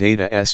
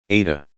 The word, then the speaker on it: Ada: Ada. She pronounced it the Russian way with deep, dark A's, making it sound rather like Ardor_Z.